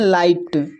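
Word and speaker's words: light: यहाँ पर देखिए लाइट, लाइट में देखिए जी एच से पहले यहाँ पर जो है आई है, आई एक वॉवेल है तो इसको पढ़ते हैं लाइट।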